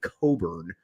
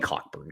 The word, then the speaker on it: Cockburn: kind of Kofi uh Kofi Coburn um I guess is how it's pronounced you could say it it's Kofi cockburn come on let's be honest here um there's no such thing as a silent CK